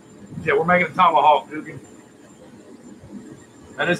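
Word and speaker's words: Gugan: Yeah, we're making a tomahawk, Guggen. That is how you pronounce that, correct?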